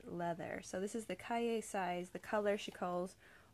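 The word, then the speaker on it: cahier: is that word that looks like cashier but without the S and so I thought it was pronounced cut here but it turns out you have to pronounce it pinkies up it's Calle so this is the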